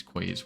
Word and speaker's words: quay: And I know we don't have any like keys or anything like that. I swear, I think that's how you pronounce it, right? Keys, quays, whatever. It's spelled Q-U-A-Y.